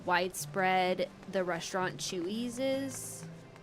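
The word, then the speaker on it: Chuy's: I don't know how widespread the restaurant Chewies is.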